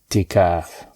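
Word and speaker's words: اعتكاف: Is that how you spell it? I'tikaf. Alright, in Arabic, it's i'tikaf.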